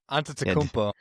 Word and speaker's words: Antetokounmpo: Antetokounmpo. Giannis. Yeah. Okay. Antetokounmpo.